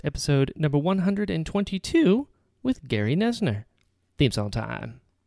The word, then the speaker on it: Noesner: probably know this but you pronounced my last name nesner nesner uh not nosener but i only say